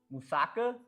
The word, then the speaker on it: moussaka: It's pronounced Moussaka? No way. Crap. You're right.